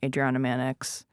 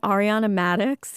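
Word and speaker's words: Ariana Madix: or Adriana Manx, did I just say her name wrong? You said it so wrong. It was like it not one thing was right. Do you mean Ariana Maddox? You said Adriana Maddox.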